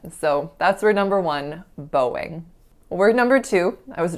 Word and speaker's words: Boeing: I was growing up, I really felt that this word should be pronounced something like boing, boing, or something of that sort, like something like the sound that a bouncing ball makes.